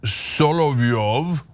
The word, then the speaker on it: Solovyov: Vladimir Solovyov, that's how you say it, it doesn't have any idea how America works.